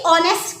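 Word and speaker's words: honest: अब ये जो है एच, ठीक है, मैं बोल तो एच तो साइलेंट है, और मैं बोल क्या रही हूँ, ओ बोल रही हूँ, क्या बोल रही हूँ, ओ बोल रही हूँ।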